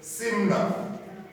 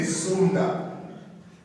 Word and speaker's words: Smyrna: Some pronounce the word as Smyrna, Sumna. Yeah, but most theologians say Sumna. For whatever reason, I don't know. But I will just say Simna. That's much easier for my tongue.